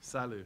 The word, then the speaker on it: SILU: Is that how it's pronounced? That's correct. SILU.